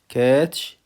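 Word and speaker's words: caught: كروس كروست كروس كروست كاتش كاد كاتش كاد يمسك او يقبض على وكلمه كات الجي والاتش سايلنت لا تنطق هيرت هيرت هيرت هيرت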